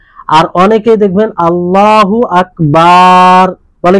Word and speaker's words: আল্লাহু আকবার: যেমন অনেকেই বলে কি আল্লাহু আল্লাহু ওয়া আকবার, আল্লাহু ওয়া আকবার, মানে ওয়াও মিলিয়ে দেয়, ওয়াও অতিরিক্ত করে দেয়, তাহলে এটাও হবে না, এটাও হবে না।